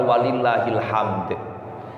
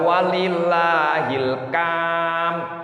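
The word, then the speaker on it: ولله الحمد: Jangan dibaca walillahil kam, salah Bu. Walillahil ham, salah.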